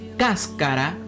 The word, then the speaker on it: cáscara: Por eso, cáscara, al igual que música, tienen el mismo ritmo porque llevan el acento en la antepenúltima sílaba.